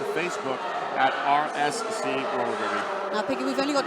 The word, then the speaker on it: Derby: So, well, the city of Derby is pronounced as such.